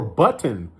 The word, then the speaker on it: button: If you say cotton, pronounce the word cotton, or button.